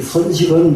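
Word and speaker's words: 繕飾: 그러니까 여기서 연식이라고 읽지를 않습니다. 선식이라고 읽습니다. 이자는. 이 선식은 뭐냐 그러면 선두를 선자인데요. 선두른다. 선을, 이게 옛날 우리 양밥집에 보면 옷에다가 선둘러서 입잖아요. 예. 그렇게 선두를 선자. 이럴 때에는 선식이라고 발음을 합니다.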